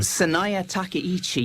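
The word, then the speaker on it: Sanae Takaichi: And I'll leave the pronunciation to you. Will you tell us about what the situation is there? Saya Takichi.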